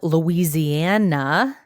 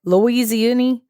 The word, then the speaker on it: Louisiana: Not Louis. How did you say it? Louisi. I don't even know how you said that word. How do you say it, Brent? Uh I say it like a nativeborn son of the south.